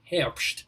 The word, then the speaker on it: Herbst: whistler harps now and notice i'm pronouncing your name since last time with a much more german sort of hamst you see am i